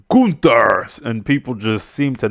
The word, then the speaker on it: Gunther: And Gunther grabs the mic and says, "That ain't how you say it. It's Gunther."